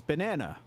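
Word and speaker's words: バナナ: I'm sure Donkey Kong is uh it it's banana and how do you pronounce that Jay Sensei banana but not not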